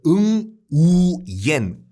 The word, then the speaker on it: Nguyễn: 이 완이라는 그 한자를 이 베트남 발음으로는 응우옌이라고 하는데 베트남 인구의 거의 3분의 2가 이 성이에요.